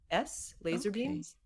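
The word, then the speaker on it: LZR Beams: then for jewelry artists laser beams which is not it's not a full word laser but it's l-z-r beams b-e-a-m-s laser beams she makes jewelry stands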